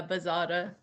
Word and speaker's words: Buzzotta: This time I have with me Buzzotta. Is that how I pronounce it? You're saying it pretty well, yeah, Buzzotta.